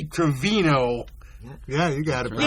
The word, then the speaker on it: Gravino: very thrilled that I had to work on pronouncing his last name correctly the last week after I goofed it up talking to Andy 4 times. It's Tommy Gravino.